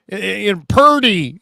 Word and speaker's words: Purdy: Heck, Mike Florio was like, look at his name. Purdy. It rhymes with turdy, stupid stuff like that.